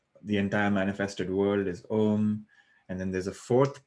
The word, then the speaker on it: Om: So we spoke about how there's 3 syllables, A, U, Ma, but there's actually a fourth one, which is silence.